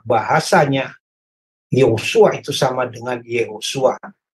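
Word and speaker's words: יהושע: Bahasanya Yosua itu sama dengan Yehosua, yang dalam bahasa Ibrani dilafalkan dengan Yehosua, sama dengan pelafalan nama Yesus.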